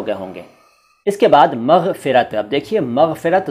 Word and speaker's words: मग़फ़िरत: चलता है ऊपर वाला, यानी पूरा ग और उसके नीचे नुक्ता और फ के नीचे नुक्ता, मग़फ़िरत।